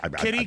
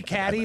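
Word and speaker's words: catty-corner: It's actually a mispronunciation of the French word quatre, meaning four. Quatre corner. Okay. And they would they accept kitty, catty, or cater corner. They're all acceptable.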